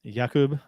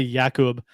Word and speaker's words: Jakub: talk about uh uh how everyone pronounce his name Jacob or Jacob uh varana uh he says both are fine it's actually yakub but both are fine